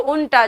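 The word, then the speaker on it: junta: सही आंसर था जॉकी, क्योंकि हॉर्स राइडर जो प्रोफेशनल होते हैं उन्हें जॉकी कहते हैं, उल्टा बोलते हैं इसको, उल्टा, जे साइलेंट होता है, इसका मतलब संगठन होता है।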